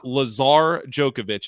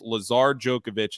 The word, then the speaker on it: Lazar Djokovic: it out for me it's Lazar Djokovic is at least what we're going with for now he's not with